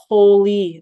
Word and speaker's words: POLE: Is it a is there a poly mutation spelled like the word pole P O L E mutation associated with the cancer.